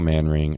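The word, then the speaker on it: Manring: real quick YouTube Michael man ring enormous room he does a bunch of different Tunes like this and spelled like it sounds M A an r i n g um wicked wicked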